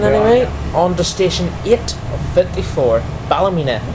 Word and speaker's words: Ballymena: On to station 854, Ballymena, or as the locals say down there, Ballymena Hair. Yeah. Ballymena Hair.